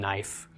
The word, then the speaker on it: knife: those do exist like the silent K and knife originally it was pronounced and it go off but the spelling remained same so you know